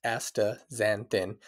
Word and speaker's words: astaxanthin: aaz zanthin pronounced AA zanthin is a natural compound